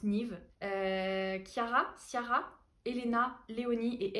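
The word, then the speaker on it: Niamh: pas comment on dit ça s'écrit niam mais je crois que ça se prononce Nive Kiara Siara Elena Léonie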